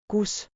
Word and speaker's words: Kus: Kus like coos, but short.